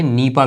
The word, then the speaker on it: NIPA: देखिए, अब NIPA नहीं कहते आप, NIPA नहीं कहते, नीपा कहते हैं। तो एक सिंगल वर्ड के तौर पर प्रोनाउंस कर रहे हैं।